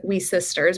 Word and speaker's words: WiCyS: acronym which is um whis is pronounced as we sisters because we are a global cyber security Sisterhood uh we are a